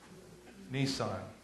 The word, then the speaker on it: Nisan: I'm pronouncing it just like the car. Nisan.